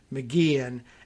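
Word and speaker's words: McGeehan: that the lieutenant governor's last name is pronounced mcgean and we may be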